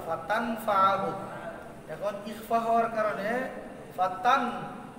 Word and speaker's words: فتنفعه: তারপরে নুন সাকিনের পরে ফা আসছে, নুন সাকিন কি তার মাখরাজ থেকে উচ্চারণ হবে? কোথায় চলে যাবে? ফার পরের হরফের মাখরাজে। এই জন্য এটা ছিল ফাতানফাআহু যিকরা, ফাতানফাআহু।